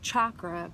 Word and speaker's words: chakra: and it's it's spelled chakra but I've heard the Sanskrit pronunciation is chakra like a u chakra so that's why you'll